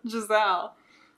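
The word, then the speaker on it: Jezal: Is that how you were saying it? Jezel? Yeah. How do you say it? Giselle. Giselle? Uh-huh. Why is that more correct? Because that's how the audiobook narrator says it.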